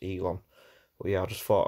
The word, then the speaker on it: Elon: order stooge puppet elon musk so i say ellen musk elon musk and it's pronounced elon well yeah i just thought i would clarify